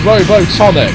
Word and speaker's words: Robotnik: Robotnik, the greatest scientific genius in the world! It's pronounced Robotonic.